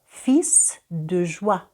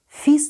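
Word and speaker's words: fils: про яке Щойно говорила фісс дужва звертаємо увагу що в цьому слові Я не бачу L і вимовляю літеру с на кінці фіз дуже син радості Саме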